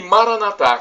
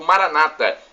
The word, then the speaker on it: Maranatá: E Maranatá, como dizemos nós católicos, ou Maranata, como dizem nossos irmãos separados, os evangélicos ou protestantes. Não importa a pronúncia, porque somos todos irmãos e cristãos.